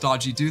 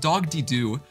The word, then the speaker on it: Dogdy Do: Oh, that is not pronounced Dodgy Do. That is pronounced Dogdy Do.